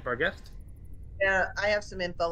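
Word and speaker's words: barghest: down in really a sad crumpled heap of Bist am I pronouncing that right oh bar guest it's bar guest b a r g h s t right bar guest yeah I have some info on those because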